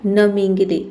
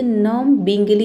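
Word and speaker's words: numbingly: नमिंगली ठीक है नमिंगली इसे नम बिंगली नहीं पढ़ेंगे इसे पढ़ेंगे नमिंगली ठीक है ये नम हो गया इंगली हो गया ठीक है तो नंगली यहां पे बी लेटर साइलेंट है यहां पे आपको ब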